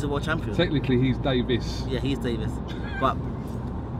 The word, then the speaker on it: Davies: world champion technically he's Davis yeah he's Davis but it's all pronounced the same it's all pronounced the same even though it's spelled a bit different it's all pronounced the